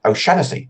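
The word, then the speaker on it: O'Shaughnessy: use now in Ireland the correct pronunciation of my surname is actually but you can also pronounce it o shanesy on the west coast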